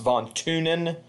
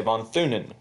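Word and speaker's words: von Thünen: I believe it's actually pronounced von Thunen, but since it's a TH and I'm American, we say von Thunen.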